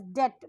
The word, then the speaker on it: debt: that is the loan we pronounce it as death be silent she has to sell